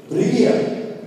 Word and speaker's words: привет: To say hi, Russian people say привет.